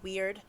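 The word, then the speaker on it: wyrd: rune cast and you get the weird symbol it's spelled w-y-r-d weird that often means inevitability inevitability or unavoidability maybe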